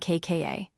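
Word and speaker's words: 까: And kka is the tense sound, tight and sharp with no air at all.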